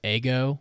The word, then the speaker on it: Ego: yeah by the way uh ego would be pronounced ego which makes me very